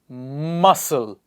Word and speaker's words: muscle: is it conscience next one is ascent C is silent ascent what is the next one luminescence luminescence miscellaneous miscellaneous muscle please keep repeating after me muscle scenario scenario